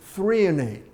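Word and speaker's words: threonate: particularly good for the brain is called magnesium thrienate. Treo N. You spell that.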